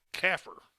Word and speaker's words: CAFR: comprehensive annual financial report which we refer to as cafr which is pronounced phonetically caffer so from now on